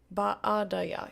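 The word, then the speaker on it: baadaye: Baadaya. You notice there's two A's, so you pronounce each of them as a separate syllable, because that's Swahili for you.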